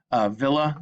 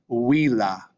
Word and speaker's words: villa: it would be pronounced villa. And notice how the double L, if you've taken Spanish, you know the double L will be pronounced as a y. In Latin, they just pronounce that as la.